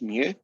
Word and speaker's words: mu: is standard deviation oversaw this is the greek letter which you pronounce as mu and this is a